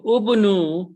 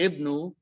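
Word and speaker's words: ابنوا: So ubnu, or it's actually ibnu, means build.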